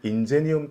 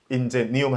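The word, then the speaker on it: Ingenium: 근데 공교롭게 한국어 발음 인재라고 하는 발음하고 라틴어 발음 인제니움 할 때 인재 발음이 이제 비슷하잖아요.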